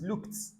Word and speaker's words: looked: There is nothing like looked. It's looked.